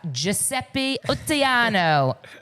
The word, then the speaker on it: Giuseppe Ottaiano: Did I say it correctly? Yeah, you said it correctly.